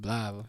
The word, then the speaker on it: Blytheville: Blytheville. Blytheville? It's Blytheville, but we call it Blytheville.